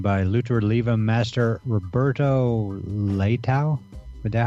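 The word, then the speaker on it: Leitão: We have a link to it in the show notes, but it's the 10 Principles of Grappling by Lucha Libre Master Roberto Leitao.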